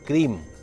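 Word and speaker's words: क्रीं: है उनमें सावधानी रखिए ओम क्रीम क्री के ऊपर बिंदी है क्रीम कालिके स्वाहा ओम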